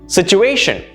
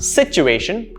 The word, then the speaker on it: situation: Situation is not situation, no, it's situation. Notice the stress on A, situation.